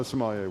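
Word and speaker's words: sommelier: Simole, is that how you say it? Somalier. No, Somalier.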